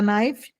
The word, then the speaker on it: knife: Would you like a fork and a knife? Você quer um garfo a knife? Knife, não pronuncia o K, tá?